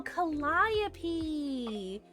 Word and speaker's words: Calliope: Oh, Calliope. So you would pronounce the latter part like you would the end of the name Penelope.